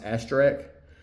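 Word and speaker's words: Asterix: European comics, and also I believe it's pronounced Asterek, the cartoonish looking barbarian.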